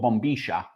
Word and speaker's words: bombilla: And then you drink it out of a straw which is called a bombia. In Spanish it's called bombisha. And it has little filters on the top so you're not drinking the tea leaves.